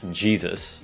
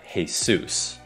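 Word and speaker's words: Jesús: Còn tên của cầu thủ bóng chày này không đọc là Jesus mà là Jesus.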